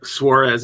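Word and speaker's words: Suárez: I used to struggle pronouncing Suarez. It's Suarez, isn't it? I mean, that's how I would pronounce it, Suarez.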